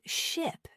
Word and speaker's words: ship: For example, the word ship and sheep. They look similar but sound different. Ship has a short I sound and sheep has a long e sound.